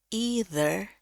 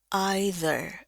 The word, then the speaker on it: either: Ini ada dua cara baca, either atau either, dua-duanya benar.